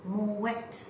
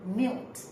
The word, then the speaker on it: MUET: University English as m e t now I pronounce as Mo wet but I hear some people saying mil and there are others like I have some